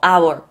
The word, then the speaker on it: hour: 봐요 이게인지를 알고 이번 이게 발음이 아라고 생각하시면 돼요 보고 our 보고 our 보고 아만 하시면 돼요 오케이 갑니다 스펠링 외우지